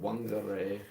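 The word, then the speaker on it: Whangārei: Pronounce it wangare.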